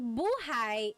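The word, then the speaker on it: buhay: So buhai is life. If you say, the emphasis is on the second syllable, that means alive.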